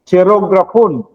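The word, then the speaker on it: χειρόγραφον: So the Greek word certificate of debt, gikuha siya sa Griego nga pinulungan nga chirograpon. CF, no? Kabalo. Ang pag-pronounce nini is ki. Kuya ng Griego, no? Atong basahon wag chi, no?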